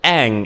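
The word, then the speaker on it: Aang: Um, obviously they also get the pronunciation wrong of Ang's name. It's Ang. They completely stuff it up in in the movie.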